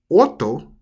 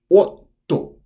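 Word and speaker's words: 夫: to pronounce this one you see how there's two t's so if you see two letters of the same we wouldn't say auto we would say like otto so when you see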